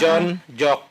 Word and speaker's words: Yon Yok: Nah, ini ejaan lama ya tahun 60. John Jok ya. Jadi ini Y ya. Yon dan Yok gitu.